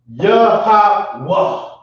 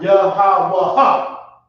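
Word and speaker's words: Yahawah: When they're together like that, you're gonna drop the A, okay, and just say the ha, okay? Yah-ha-wah. You drop the A sound. It's not Yah-ha-wah-ha. It's Yah-ha-wah, okay?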